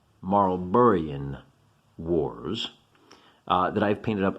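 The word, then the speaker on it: Marlborough: Oh, one of my followers taught me how to say this. Marlburruh Wars.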